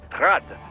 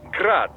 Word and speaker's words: Grad: eugene's name is pronounced grad the ukrainian way but most in the business pronounce it as grad russian style crazy to think i'd